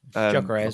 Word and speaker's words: Gyökeres: The one that I think that they should go for is Victor Gyökeres, or Gyökeres. How do you say his name, Jack? Gyökeres, Coventry.